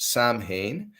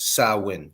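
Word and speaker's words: Samhain: that it's written we think that it's actually pronounced Sam ha but it's actually pronounced sawin and it was a pagan Festival that started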